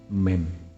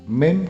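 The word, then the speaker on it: ميم: Kemudian setelah sampai pada pengucapan 'mim ', tekuk lidahmu ke atas, saudara-saudaraku. Tekuk ke atas, menyentuh langit-langit mulutmu, ya.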